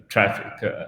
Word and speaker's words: Traefik: Well, I had wondered at the beginning, it was like kind of Latin where A and E are pronounced E, but that's nothing like that.